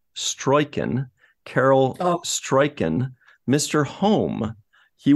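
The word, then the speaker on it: Struycken: One other person I wanted to point out is, I believe his last name is pronounced Stroiken, Carol Stroiken, Mr.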